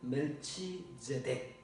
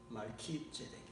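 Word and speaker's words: Melchizedek: 그랬더니 자기가 겨우 발음해낼 수 있는 멜치제덱 이렇게 멸치, 그 멸치가 아니고 멸치. 근데 멸치가 아니라 말키죠. 말키제덱.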